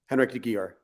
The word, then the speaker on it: Henrik de Gyor: Henrik de Gyor. Okay. Yeah, all right. That's exactly how I pronounce it.